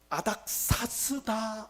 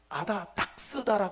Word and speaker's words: 아닥사스다: 결정적인 실수를 방 합니다 아닥사스다 왕 할 때 그 아닥사스다 이분이 계속 뭐라고 발음하는 가면 아닥스 발음합니다 여러분 그런 공개 토론할